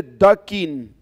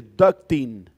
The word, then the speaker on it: ducting: Los ductos, no se dice ducking, ¿ok? Olvídense de esa palabra. Si por allá afuera usted le escuchan el ducking, no se dice ducking. Eso quiere decir como patear, como pato. Eso se dice ducting, el ducto.